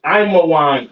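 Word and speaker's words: עמון: All right, Ammon, which is Imawan in the Hebrew.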